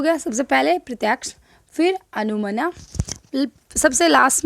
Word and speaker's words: अनुमान: दूसरे नंबर पर था आपका अनुमना, मीनिंग अनुमान या अनुमना, स्पेलिंग से अनुमना लगता है, अनुमान होता है वैसे हिंदी में।